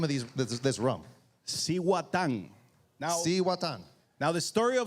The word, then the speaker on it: Cihuatán: Hey, how do you pronounce the name of this rum? Cihuatán.